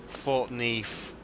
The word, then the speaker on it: Thornton Heath: I mean, I wouldn't pronounce them weirdly, but like for example, Thornton Heath it's got F's in it rather than TH's, so it's Thornton Heath.